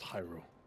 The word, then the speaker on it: Hyrule: up though is what I meant but it's pronounced Hyrule okay I higher rope see perfect uh yeah